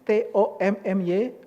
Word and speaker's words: Thomy: h o m y Jadi ngomongnya harus ada h-nya Tommy begitu Nah itu baru saya itu baru saya kalau Tommy seperti Enggak ada ganjelan